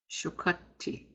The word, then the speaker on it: Shukati: Shukati. Shukati. This word has two T's. You're going to pronounce both of them.